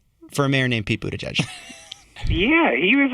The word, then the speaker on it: Buttigieg: Buttigieg. We learned it. Mayor Pete. I practiced it 20 times before we interviewed him. Buttigieg.